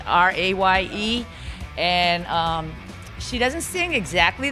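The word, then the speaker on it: Raye: Ray is a girl from South London. No, Amy was from North London. And she just sang on the Grammys. If you haven't seen her, it's spelled R-A-Y-E.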